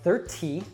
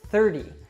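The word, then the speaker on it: thirty: 13 but in 30 because that T is surrounded by vowel sounds we actually change that to an American T which sounds like a soft D so it's not 30 it's 30 so we have 13 third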